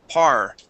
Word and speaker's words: part: Okay, you're rolling that R. Make sure to say part.